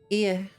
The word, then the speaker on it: Ea: When the vibrations of vocal folds was still required to convey our thoughts and intentions, ear, I believe, was the pronunciation used when referring to our people.